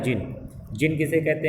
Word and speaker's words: djinn: जिन DJINN है। देखिए इसको प्रोनाउंस किया जाता है जिन।